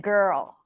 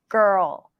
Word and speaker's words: girl: each other and also it's a dark l so it's not a typical Le sound it's created very similarly